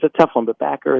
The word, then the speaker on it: Bacher: a tough on the Packer is actually spelt with a CH so it's like the composer box with an ER at the end so Danny back of